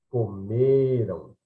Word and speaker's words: comeram: Comerão, né? Tonicidade forte, oxítona na última sílaba, né? Comeram, comerão, ou seja, a tonicidade é na segunda, na penúltima sílaba, portanto é paroxítona. Portanto, o forte é segunda